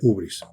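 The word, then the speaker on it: hybris: Otros dicen ibris. No me acuerdo bien de cuál de las dos maneras. Creo que es ubris. Ubris, pero se escribe con y, así que, pero se pronuncia ubris, que es la soberbia.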